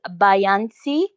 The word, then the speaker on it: Bayansi: last name, which is Bayansi. Do I pronounce it well? No, it's Bayansi. Beyonce, but it's okay. It's Beyonce. fine. Yeah, yeah. It's Hmm? like Beyonce, but with this SI.